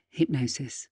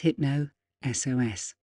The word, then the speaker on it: HypnoSOS: It's not hypnosis. It's HypnoSOS. And in case you just zoned out there, I'll spell it for you.